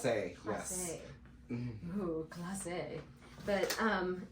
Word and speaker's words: Klasse: Is that how you It's pronounce KLASSE, it? KLASSE.